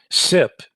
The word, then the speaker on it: CIP: over ethernet ip functionality sip is spelled cip and it's an acronym for common industrial protocol focus for a minute